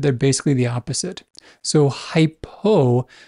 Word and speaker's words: hypo: basically the opposite so hypo remember below so below rhymes with hypo and then hyper think